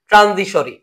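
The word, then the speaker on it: transitory: তো এইভাবে স্পেলিংটা মাথায় রাখতে পারো, যদি উচ্চারণ হবে ট্রানজিশরি।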